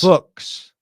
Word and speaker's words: Fuchs: Titans' top offensive line assistant, Scott Fuchs, was at, it's actually rhymes with books. Fuchs? Fuchs.